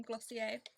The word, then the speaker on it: Glossier: Oh, whilst I remember, my package from Glossier claim today.